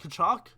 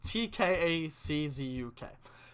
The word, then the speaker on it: Tkaczuk: Walt Kachuk? It was. Alright, I don't think that's how you pronounce his last name. It's Tkaczuk.